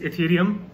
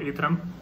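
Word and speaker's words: Ethereum: सो अभी just editing करते time मुझे पता चला कि I have pronounced it wrong, it's इथेरियम एंड नॉट ईथरम.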